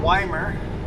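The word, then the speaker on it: Ymir: record here ton of Weimer right beside us on the left hand side Weimer spelled y m i r I would have never pronounced it Weimer in my life until I heard a local it's called at a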